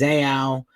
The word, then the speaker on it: Zao: I've been picked on for saying their name wrong. It's Zao.